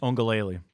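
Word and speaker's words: Uiagalelei: Your wonderful pronunciation of DJ. How do you say it? Ongalele.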